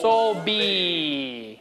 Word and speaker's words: Soulbi: Soul. Soul B. Like a B? B. B. Okay. A B from Soul, yes.